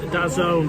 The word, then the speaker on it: DAZN: DAZN is pronounced Dazone, by the way.